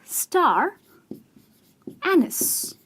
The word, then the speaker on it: star anise: anise ec ok so star anise is pronounced in this way and not in the way one would say like star and knees or star a knife none of that is correct it's actually star anise it's a spice and